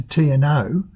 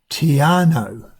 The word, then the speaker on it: Te Anau: Sounds like or reads like Te Anau or Te Anau. It's apparently Te Anau.